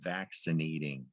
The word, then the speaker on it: vaccinating: That double C, oh, that can be confusing. Let's go with what we know. There's sin, like cinnamon. Vac, sin, yeah, this is the word vaccinating. A lot of that going on these days.